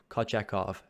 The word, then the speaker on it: Kochetkov: I pronounced it right there, Kochetkov.